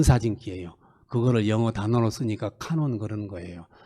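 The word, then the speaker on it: 観音: 일본 발음으로는 카논이라고 그래요. 카논. 예, 카논이에요. 그래서 일본 사람들은 관세음보살님을요. 카논 보사츠 그래요.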